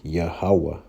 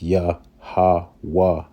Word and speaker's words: Yahweh: you see it says Yahweh. There's no O or no V in the Paleo Hebrew. It's Yahweh.